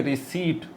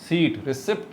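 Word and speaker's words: receipt: इसको पढ़ेंगे कॉम्ब, इसको पढ़ेंगे बॉम्ब, इसको पढ़ेंगे डेट, ये दैट्स इट, और इसको पढ़ेंगे रिसीट, रिसिप्ट नहीं।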